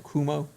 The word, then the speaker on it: Cuomo: Cuomo.